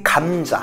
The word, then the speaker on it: 감자: Écoutez bien l'intonation, c'est ça le plus important. C'est 감자. Il faut accentuer le kam, d'accord?